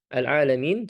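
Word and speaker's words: العالمين: Alalamin sebagaimana yang kita sudah singgung sebelumnya menggunakan ain ya. Menggunakan ain hati-hati dibaca dengan hamzah.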